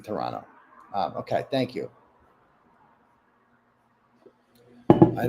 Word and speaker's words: Toronto: Free care and read from Toronto. Nice. Toronto. Turtle writers. The second the second T is silent in Toronto.